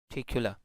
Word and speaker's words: particular: So mostly if we pronounce this word very carefully and very slowly, so a shaw would be added to this word and it would be like particular. So in this case a